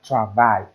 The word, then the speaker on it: travail: I, I, I, I, I, I, as travail, travail, travail. Tra plus a, tra, vo plus I, vai. It is a two-syllable sound. Two-syllable word, I mean.